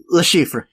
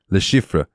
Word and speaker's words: Le Chiffre: mission where you can get how do you pronounce his name? Le Chiffre. Le Chiffre.